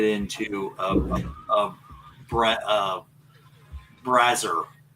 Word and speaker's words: brazier: by putting it into a a bra uh, brazer is that how you say it? I don't know. You know those burning Oh, brazer. Yeah. Yeah. Brazer. Brazier.